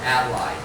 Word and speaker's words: ally: Number 19 is where here the stress is on the first syllable. So we say about so ally.